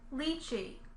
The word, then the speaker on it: lychee: Here's the word lychee. Lychee. The first vowel, then the second vowel. Lychee, lychee. The first vowel is E, but the second vowel is kind of between E and I.